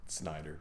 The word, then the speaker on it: Snyder: Schneider, I guess. How do you say it? Snyder. Yeah, it is Snyder.